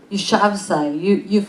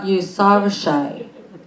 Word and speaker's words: Yousafzai: Yousafzai, Yousafzai, Malala, you know Malala.